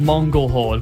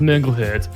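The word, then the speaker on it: Mongol Hörde: a band I like called Mongol hord but they've got um outs over all of the O's so the singer quite rightly pointed out the technically the band is pronounced mongle her and since then everybody's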